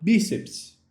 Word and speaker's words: bíceps: A palavra bíceps. Bíceps. A palavra bíceps tem a sua sílaba mais forte localizada na penúltima posição.